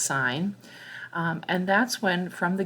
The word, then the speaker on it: sine: one we call sine it's abbreviated s-i-n but pronounced sine and that's when from